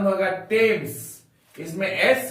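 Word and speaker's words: Thames: हम लोग इसको बोलेंगे थॉमस थॉमस थॉमस का उच्चारण यहां पर थॉमस होता है जैसे हम लोग ने सुना है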